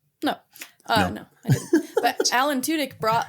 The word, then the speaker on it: Tudyk: Alan Tudyk.